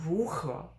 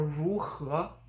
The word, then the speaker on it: 如何: This is another formal-ish way of saying how, and you can de-stress or you can stress the final syllable 和. So 如何 or 如何 are both okay.